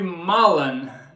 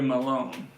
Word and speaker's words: Mullen: rhymes with Holland. Mullen, not Malone.